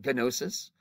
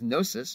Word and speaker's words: gnosis: producing the next word the G is silent although you can say it for fun if you want venosus but what it really is is gnosis it means knowing it's